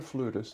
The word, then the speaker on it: flutist: Sarah, is it flautist? Is that how you pronounce it, or is it flutist? Flautist or flutist. It's Okay, either way.